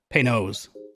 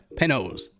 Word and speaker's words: Panoz: Okay, digging a little deeper on the interwebs, apparently the family pronounces it Panoz. So that's what we're going to say. Panoz.